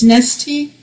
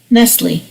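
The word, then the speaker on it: Nestlé: now or something neste because the S is silent like Illinois right it's nesty or this Nestle Nestle right am I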